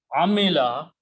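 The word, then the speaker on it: عَمِلَ: So Amala, third thing, if you put actually Mim carries a kasra. Amila is third person, like Fa, Ain, and Lam, third person and the past tense.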